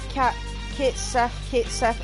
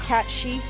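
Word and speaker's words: Cait Sith: Yeah, so when people call Kate Sith in Final Fantasy VII, it's actually pronounced Cat She.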